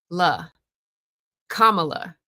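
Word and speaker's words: Kamala: Noah is watching this, here is how you say her name. La comma. You do pronounce words with the first syllable like ven, like Noah, like Webster, like tons of words.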